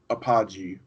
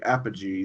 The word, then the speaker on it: Apogee: I don't say Apogee I used to call it a apology watching when I heard the actual developers in a video say Apogee that much I would say it wrong so I said it I said something right I can't believe it